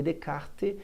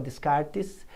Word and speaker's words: Descartes: s no inglês também e aquele assim não é pronunciado rene dekart ninguém fala descartes uma as tem o